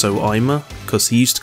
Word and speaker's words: Soima: I know it looks like you say Soima, but it's pronounced Soima, because he used to call himself Soima Freak online.